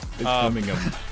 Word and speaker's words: Birmingham: Birmingham. Birmingham. We don't pronounce the H because why would we?